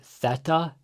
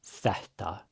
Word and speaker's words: þetta: And when there's two t's next to each other, there's a little pre-aspiration right before it. So, it's not þetta but þetta. And in the beginning, when you're first learning and getting used to this, really over-pronounce the pre-aspiration.